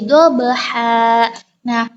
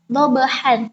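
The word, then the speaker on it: ضبحا: Jadi dibacanya dobha, bukan dobhan, tapi dobha.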